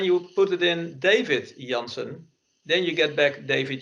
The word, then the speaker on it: Janse: Janse and you pronounce it with an N at the end, that's a common name in the Netherlands, so everybody does that. But it's wrong. So then we correct it to D. Janse.